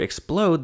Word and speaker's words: explode: For instance, in the word explode, the emphasis is on the second syllable, whereas in syrup, it's on the first.